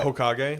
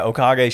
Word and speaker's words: Okage: black Spirit type Okami not Okami sorry uh Hokage Hokage no is it okay Hokage is the